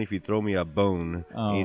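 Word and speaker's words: Bohn: And then the guy was doing the tweet, his last name's Bon, B-O-H-N, but you could pronounce it Bone.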